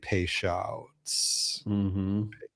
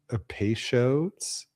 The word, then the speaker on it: Peychaud's: Orange, black walnut, and Peychaud's. Peychaud's? How do you pronounce that?